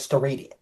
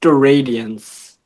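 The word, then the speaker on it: steradians: So solidity angle is actually measured in a totally different unit called st radius. Also also it's actually pronounced st radians.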